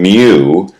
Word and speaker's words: mu: And then mu, it's a cursive U-- and it's pronounced almost like a cow's mooing-- is the population mean.